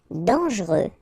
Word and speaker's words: dangereux: Dangereux. Final X not pronounced. And then don't really pronounce this E here.